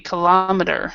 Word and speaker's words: kilometer: the kilo kilo this they stress the first one and we stress the second one um and this T will be D or just left as a t kilomet oril see kilometer so this would be this T would more be more like a D sound kilometer and they're both both